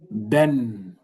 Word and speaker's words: ben: Ben, on avait dit ça en haut. Ben qui signifie moi se prononce ben on écrit ben ben se prononce